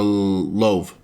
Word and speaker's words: Louvre: Or, how do you pronounce it? The Louvre.